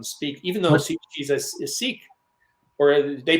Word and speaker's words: Sikh: And so she's a lot of churches invite her to come speak, even though she's a Sikh. Or they pronounce it sick, but people get confused.